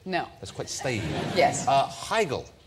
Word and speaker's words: Heigl: Katherine Heigl.